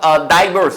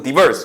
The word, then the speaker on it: diverse: In the face of diverse 혹은 diverse 둘 다 맞는 발음이에요.